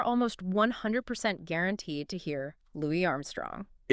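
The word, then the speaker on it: Louis Armstrong: I mean, the culture has entirely settled on that pronunciation. Completely. Like if you were at a trivia night and you confidently referred to him with a hard S, you know, Louie, someone would probably politely correct you.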